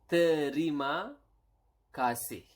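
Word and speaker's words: terima kasih: how do you say thank you it is Rima Cassie okay Rima Cassie terima means actually Sam receive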